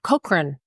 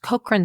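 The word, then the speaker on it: Cochrane: Nordic um Cochran Center Cochran sorry pronounced kran Center in Copenhagen Denmark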